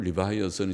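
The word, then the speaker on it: Leviathan: 리바이 어를 립 립 이를 리바이어선 류 바이어스는 영어발음을 리바이어선 이지만 딴 그 글자는 립의 악사 아니라고 하는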